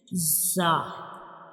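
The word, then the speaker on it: زاي: It is also called a whistle letter because when we pronounce za, the whistle-like sound comes like za. So when we pronounce za, we will touch up and down teeth together.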